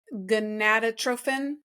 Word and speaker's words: gonadotrophin: So that's the human chorionic gonadotrophin.